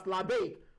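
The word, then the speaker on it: Labbaik: If an Arabic person is going to pronounce that word now, they can pronounce it as Labeik.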